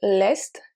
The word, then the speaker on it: est: So est and est are two different words, two different pronunciations. So l'est is east. Here we pronounce every single letter, while est, il est, is the verb être,